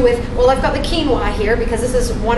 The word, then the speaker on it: quinoa: a lot more and I call it quinoa because that's how it's spelled so most people say quinoa but it's quinoa quinoa yes ancient Aztec